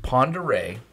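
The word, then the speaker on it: Pend Oreille: But if you look at the spelling of it, it does not look like Ponderay one iota. It's the French way.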